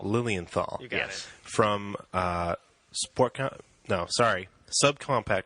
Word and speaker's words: Lilienthal: How do you pronounce your last name? Lilienthal. Lilienthal.